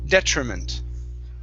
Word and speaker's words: detriment: word detriment okay so the stress is at the very beginning detriment detriment very good next up is